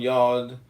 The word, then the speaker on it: yod: Comment on yod pronounced yod transcribed as I y I am the link between comment on yod yod pronounced yodi transcribed